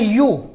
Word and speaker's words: ewe: एक शब्द है हमें दोस्तों EWE, इसे पढ़ते हैं यू, यू माने होता है